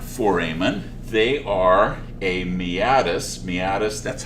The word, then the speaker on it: meatus: They are a meatus. Meatus, that's how you pronounce it, by the way.